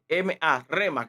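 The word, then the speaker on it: rhema: La palabra en el vocablo hace referencia al rema, que se escribe con la palabra R-H-E-M-A, rema, que implica un sentido de una palabra fresca, calientita, acabadita de recibir el aliento de vida del Espíritu.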